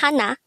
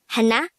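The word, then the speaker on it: 하나: numbers number one is hana in native korean numbers again hana is number one this is composed of two syllables the first syllable is ha second syllable is na pronounce it with me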